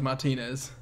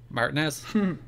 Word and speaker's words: Martinez: I adore your pronunciation of Martinez. Martinez? Well, Martinez and Martinez are both acceptable pronunciations.